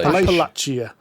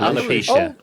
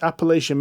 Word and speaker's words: Appalachia: So John and I played Old Gods of I can't pronounce this. Appalachia. Appalachia? Not alopecia.